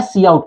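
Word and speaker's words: cout: Similarly ये होता है सी आउट, काउट नहीं लिखा है, सी आउट लिखा है, इसकी प्रोनाउंसिएशन है, सी आउट बोलते हैं इसको।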